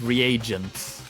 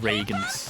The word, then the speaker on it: reagents: I guess I pronounced it that wrong, so it's reagents, And that's where the poison not came Reagans.